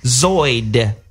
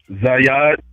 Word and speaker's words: Zad: lines are still crazy zo uh if that's how you say your name from Atlanta Z how do you say your name brother zad zad like that that's a nice name